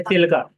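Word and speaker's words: Chilika: चिल्का। चिल्का lake इस तरह से। ये देखिए प्रोनाउंसिएशन चिलिका इस तरह पढ़ना है।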